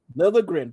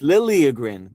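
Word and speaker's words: Liljegren: Lilligrin. Come on. Lilligrin. Justin. Any Liin? It's Lily Grin. What's wrong with you? Don't you even know how to pronounce these guys names?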